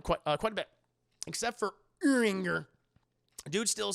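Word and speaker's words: Urianger: One of the heroes you fight alongside with in Final Fantasy XIV is a guy named Uranger, pronounced Uranger. He's Anja. I'm going to call him Uranger.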